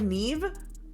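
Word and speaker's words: Niamh: Niam is pronounced like Neve?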